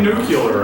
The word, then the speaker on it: nuclear: I still can't say nuclear right, and everyone yells. Nuclear. It's like the word clear. Nuclear. Clear.